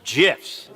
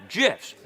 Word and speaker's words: GIF: That some of you may have seen on the socials via hilariously violent GIFs from developer Dead Toast. Pronounce it GIFs. Pardon me? Yeah, GIFs.